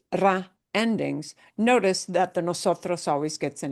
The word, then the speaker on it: nosotros: mark because we're like, we have the emphasis for the syllable is right in the middle in nosotros.